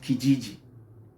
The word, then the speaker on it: Kijiji: next place that you can find accommodation is Kijiji Kijiji is spelled k-i-j-i-j-i it sounds funny right so Kijiji is another